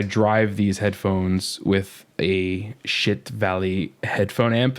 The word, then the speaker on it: Schiit: And then I drive these headphones with a Shit Valley headphone amp. And that's really the way you pronounce it. It's SCHIIT, shit.